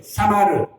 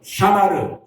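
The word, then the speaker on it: שָׁמַר: 샤마르. 뭐 발음은 조금 우리가 이상할 수 있어요. 히브리 사람이 아니니까. 다시 한번. 샤마르.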